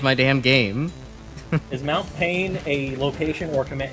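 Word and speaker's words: Payne: Is Mount Pain a location or command? It's both. Both, actually. Kid named Pain. Well, it's spelled P-A-Y-N-E. I realized that after I said it.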